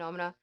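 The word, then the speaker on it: Noumena: I know it's pronounced Numina, but it's not. I call it Nomina.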